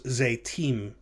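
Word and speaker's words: זֵיתִים: of those examples earlier the noun zayat meaning olive becomes zeytim so notice those two syllables za and yi become the single syllable zay so the uh the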